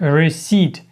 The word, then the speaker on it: receipt: Воно пишеться resі, читається як rece.